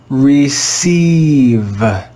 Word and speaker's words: receive: It's pronounced E, E. Let's read this word together. Receive, receive, receive.